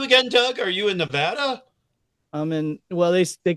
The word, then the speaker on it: Nevada: They call it Nevada, is how they say it. Nevada. There's absolutely no real reason why they should pronounce it different.